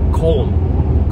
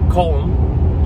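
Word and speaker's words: Köln: pronouncing this correctly it spelled like cologne but i think it's pronounced colon comb germany and so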